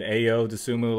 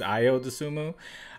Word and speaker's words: Ayo Dosunmu: In this first pick, I noticed I pronounced his name wrong. I said Ayo Dosunmu last time. I believe it's Ayo Dosunmu.